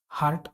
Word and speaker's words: heart: Next है HART हार्ट मतलब बारहसिंगा, और उसी उच्चारण का HEART, जहाँ पे ई साइलेंट है। हार्ट मतलब पता होगा दिल।